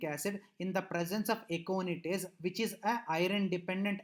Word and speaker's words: aconitase: Whereas this reaction is catalyzed by aconitase. I think a name little difficult, so I will pronounce it once again.